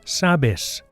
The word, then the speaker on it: sabes: To say you know, we change the ending and we get sabes. Sabes. Notice that the stress, the accent here is on the first syllable.